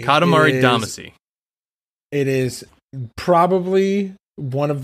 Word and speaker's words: Katamari Damacy: Katamari Damacy. Katamari Damacy.